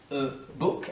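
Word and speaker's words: e-book: assez la répétition donc tu peux y aller e book alors déjà prononciation ça se dit pas ah mais ça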